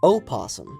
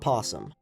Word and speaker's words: opossum: It is technically pronounced opossum, not possum.